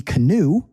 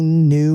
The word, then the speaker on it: knew: In English, sometimes there are silent letters and these can be really confusing. Look at the first one. We don't say he canoe, right? He knew what to do.